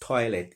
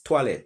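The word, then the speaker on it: toilette: the etymology of the word toilet it's not pronounced toilet it's toilet because the french pronounce oh i as a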